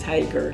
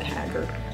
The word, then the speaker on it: Haggar: I am proud that it is hyper not hacker or Haggard hey my supposed to